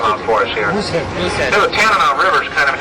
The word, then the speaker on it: Tanana: So the Tanana River is, actually it was originally pronounced Denana, D-E-N-A-N-A. And now it's spelled a little differently than that.